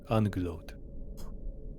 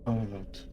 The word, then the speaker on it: Ungloat: I believe you are mispronouncing the name. It is a single word. Ungloat. Uncle Oat.